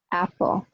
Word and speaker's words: apple: If there's only 1 vowel letter in the stressed syllable, it usually sounds like a relative of the alphabet vowel. So apple, apple. So we don't say apple, we don't say A, the letter A, we say A.